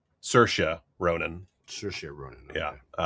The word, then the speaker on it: Saoirse: And finally, one last trailer, starring it's Saoirse Ronan. Saoirse Ronan. Okay. Yeah. Saoirse like inertia.